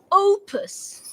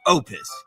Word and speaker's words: OUPES: confirm o u p e s right pronounce it can you teach me okay but just once Opus Opus Opus Opus I knew it it's Opus stop saying hey I